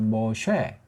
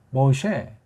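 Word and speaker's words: מֹשֶׁה: 누가 이 글을 쓴 사람이 우린 알려지기를 모셰라고 하죠. 모셰. 발음도 그래요. 모셰.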